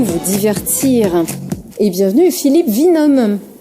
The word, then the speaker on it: Winum: Et bienvenue Philippe Vinhomme. Merci pour la prononciation également. Oui, pourtant j'aurais dû dire Winham, puisque vous êtes un vainqueur. C'est écrit dans le nom.